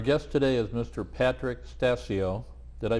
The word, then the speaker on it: Stasio: Patrick Stassi oh did I pronounce that rash correct that's correct whoo I have a lot of respect for mr.